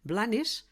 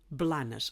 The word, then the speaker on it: Blanes: Blanes no està ben pronunciat perquè estem parlant tota l'estona en la variant dialectal oriental, central, i hauríem d'haver dit Blanes, amb vocal neutra.